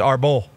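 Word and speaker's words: árbol: How do you say tree in Spanish? I thought it was arbor. Como se dice tree in Spanish? You're close there. I thought it was like A-B. It's arbol.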